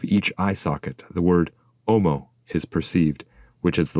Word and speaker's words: homo: eye socket the word omo is perceived which is the Latin word for man technically it is written homo but the H is not pronounced as the pilgrim stares